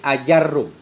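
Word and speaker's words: آجرّوم: dhabit cara baca ajarum yaitu hamdahnya fathah, a, mat, a, kemudian jimnya fathah, ranya tasdid, ajarrum.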